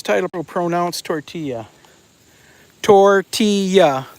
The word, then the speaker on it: tortilla: Tortilla. The two L's is a Y.